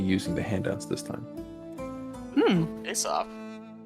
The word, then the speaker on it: Aesop: Aesop. Like Aesop. Aesop's fables. Correct. Is Yeah. it Aesop? Aesop? I always said There are Aesop. many pronunciations, Aesop being the... Most favored.